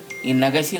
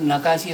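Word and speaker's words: Nakashi: in India, through the reigns of kings, Chakravarthis and Sultans, by the era of Rajaakaars, they couldn't pronounce it as Nagashis so they mispronounced it as "Nakasi" This Nakasi chitrakala has also been recognised world wide and was geo tagged as well.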